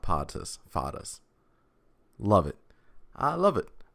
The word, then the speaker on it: Pattas: So it's pronounced Pattas, not Pattas. Pattas.